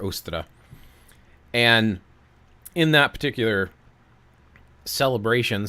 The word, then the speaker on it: Ostara: I think it's pronounced Austra. Some people call it Ostara, but I believe it's actually pronounced Austra or Ostra.